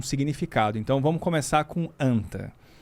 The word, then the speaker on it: Anta: E então a pronúncia seria anta.